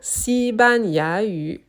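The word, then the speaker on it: 西班牙语: So, I just noticed that I said the third syllable ya with the incorrect tone. So, instead of ya, it's ya, the second tone, the rising tone.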